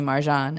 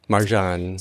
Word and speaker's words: Marjan: the difference so Maran emphasis on the an Marjan that's that's the angelized